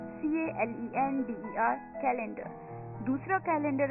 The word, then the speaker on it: calender: तो दोस्तों द 12th सेट for this evening is कैलेंडर, CALENDER, कैलेंडर, CALENDER, कैलेंडर।